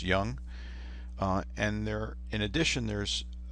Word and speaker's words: Jung: called psychological types by Carl Gustav Jung pronounced young and there in addition